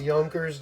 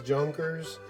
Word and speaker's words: Junkers: casting there we see it says yonkers ju-87 now a lot of people like to pronounce those junkers i'm guilty of that of course myself but after watching some historical videos it's clear that what the what the correct pronunciation is and on this side